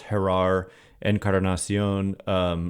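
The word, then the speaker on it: Jerar Encarnación: And Jerar, proper pronunciation here, I'm sure, is Jerar Encarnacion, leads off the top of the 10th with a booming home run to right center.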